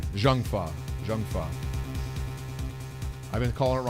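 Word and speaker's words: Zheng Fa: what you've given a perfect arguments oh it's pronounced junfa janga or junfa oh thank you wow okay shows what I know about Chinese I'm sorry thank you for correcting me Jang is junfa or junfa you can't call what you've given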